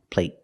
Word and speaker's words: plate: but the stop T at the end makes the long a a little shorter let's listen again play play soccer ER play and plate plate it's shorter I'm just going to